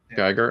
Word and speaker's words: Giger: Uh, HR Giger, is that how you pronounce his last name or is it a guy here? Geer.